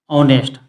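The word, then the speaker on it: honest: ऑनेस्ट होता है दोस्तो लेकिन ऑनेस्ट में आप देखेंगे दोस्तों हिंदी उच्चारण अ आ रहा है अ ऑनेस्ट अब हिंदी उच्चारण अ ऑनेस्ट आ रहा है दोस्तों यानी कि ईमानदार ऑनेस्ट के आगे ऑनेस्ट के पहले ए एन और द जो आर्टिकल होता है दोस्तों उनमें से एन आर्टिकल लगेगा क्योंकि ईमानदार का अंग्रेजी जो ऑनेस्ट हो रहा है दोस्तों ऑनेस्ट का हिंदी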